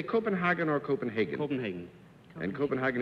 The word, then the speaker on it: Copenhagen: the world your mother runs one in in Copenhagen that's right do you say Copenhagen or Copenhagen Copenhagen and Copenhagen is incorrect or